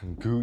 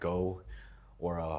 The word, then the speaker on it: Goo: first YouTube video of Goo TW, that's how you pronounce my username, not Go, or however that Coach Colton guy pronounced it. It is Goo.